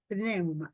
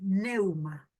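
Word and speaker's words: pneuma: Neuma se escribe con P. Neuma.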